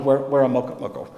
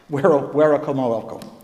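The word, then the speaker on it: Werowocomoco: is not too far from Wahunsanacock's hometown of Weramoko. Sorry, Werakomoko.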